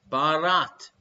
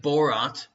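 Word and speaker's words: Bharat: for what asian country barat did you like my pronunciations there her indoors i'm not saying borat barat is the native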